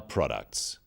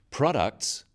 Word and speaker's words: products: In words, one syllable is stressed. The wrong stress makes it hard to understand. So, conclusion, not conclusion. Products, not products.